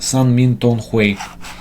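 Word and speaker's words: 三命通會: So she translates the book as the meeting of the three fates, and it's pronounced San Min Tong Hui.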